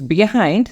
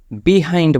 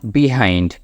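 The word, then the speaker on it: behind: চলুন কোন সমস্যা নেই okay let's go ইটস বিহাইন্ড দা এবি C tower এটা একটা জাস্ট লোকেশন বলতে বলা হচ্ছে এখানে একটা উচ্চারণ খেয়াল করবেন যেটা আমরা হর হামেশাই ফুল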